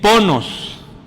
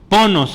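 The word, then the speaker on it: πόνος: Se escribe así y se lee ponos. Ponos. El acento está ahí en la o.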